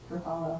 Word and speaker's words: Ruffalo: Huh, I've been saying his name wrong. Ruffalo.